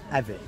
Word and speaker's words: Avit: How do you pronounce it? Avit. Avit.